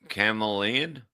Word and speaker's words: chameleon: Okay, the H is silent. Okay, let me see. Chameleon? It doesn't make any sense. Not the way you say it. Yeah, the H is silence.